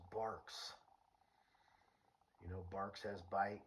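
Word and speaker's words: Barq's: And then I read the can and it said it's pronounced barks.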